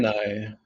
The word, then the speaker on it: Draenei: No, it emphasizes the middle part a bit more. So dry. Oh, no. Dry. It's so hard to remember how to say it. Draenei.